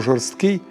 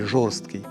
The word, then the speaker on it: жорсткий: в усіх випадках вживають слово жорсткий не зрідка ще й з неправильним наголосом на першому складі жорсткий ніби забувши міцніше слово